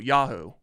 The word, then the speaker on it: Yahoo: I find it amusing yeahoo General most most people put the emphasis on the first syllable Yahoo Yahoo but I like